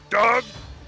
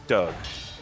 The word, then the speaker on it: Doug: he goes go go dog dog dog sorry i was saying his name wrong his name is doug doug where where dog